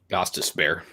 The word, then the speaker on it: Gostisbehere: It is spelled Gostisbehere. Gostisbehere.